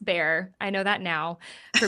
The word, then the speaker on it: Bexar: It's in Bexar County, which back when I recorded it, I said Bexar County, which is part of the humbling part because it's Bexar. It's pronounced bear.